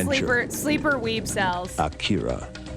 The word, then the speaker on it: Akira: Akira. Acura. Why am I pronouncing it like the car?